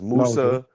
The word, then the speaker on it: Musa: Uh we refer to MSA as Moses as Musa.